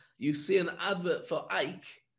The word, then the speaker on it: Ike: see an advert for ike which literally would rhyme with bike because that's the kind